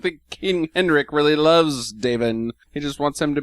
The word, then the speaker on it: Davin: His name is Davin. Davin. Is it? Davin. I don't know anybody named It's Davin. spelled D-A-V-I-N. Yeah, Davin. Davin. Oh, okay. I guess if you're going by the Gaelic pronunciation.